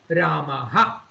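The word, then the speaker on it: रामः: the end of Rama, it is pronounced as Ramaha. So at the end of Rama, Rama is an Akaranta Pullinga Shabdaha. When it comes at the end of an Akaranta Pullinga Shabdaha, it is pronounced as Ramaha.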